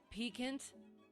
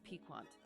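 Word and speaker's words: piquant: it looked weird and it looked like one of those where it wasn't pronounced the way that it looks so I thought that maybe it was peekant but no it's pequant pequant pequent p sequent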